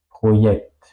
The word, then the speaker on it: Projekt: Es decir que la J es como ya, Projekt. No es como la J española. La J española toca los dientes, ¿ok? La J alemana no.